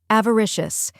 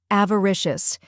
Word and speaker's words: avaricious: the U in sofa then comes Rish which rhymes with fish and is the stressed syllable finally o sounds like us in bus now let's put it all together avaricious try repeating after me